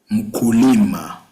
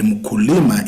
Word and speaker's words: mkulima: Then we have mkulima.